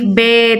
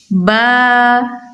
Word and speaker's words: با: وہ پرہیز کرنا ہے۔ جیسے اردو میں ہم پڑھتے ہیں الف، بے، تے، سے، اس طرح سے ہم نے نہیں پڑھنا، بلکہ الف، با، تا، سا، جس طرح ہمیں بتایا